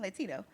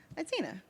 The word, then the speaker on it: Latina: Disproportionately African-American women and Latina, am I saying it right? Latina women. I keep saying Latino. Latina. Latinas. Thank you.